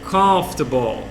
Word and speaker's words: comfortable: Comfortable. Parece campo de futebol, né? Tem uma professora minha na faculdade que disse que treinou essa palavra falando campo de futebol. Campo de futebol. Para tentar entender, aprender essa pronúncia, né?